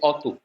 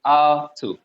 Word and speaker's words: alto: known as r2 alto some people will say autu so what you pronounce is this when you say auto so for the right pronunciation is r2 so alto is the